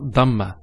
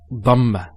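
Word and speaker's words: ضمة: Some people actually they don't say it with a dad. They say it with a dal. So they say dhamma. It's not dhamma. It's dhamma.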